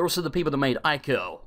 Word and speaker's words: Ico: They're also the people that made Ico, or Eco, I think people pronounce it Eco.